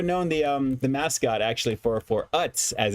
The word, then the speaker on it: Utz: of the Utz brand, I thought it was Oots, personally. And I was like, is it Oots or is it just literally phonetically Utz? And it looks like it's Utz.